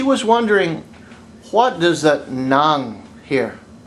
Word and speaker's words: ng: But anyway, the point of this lesson is she was wondering, what does that nang hear? It's ng, but it's pronounced nang.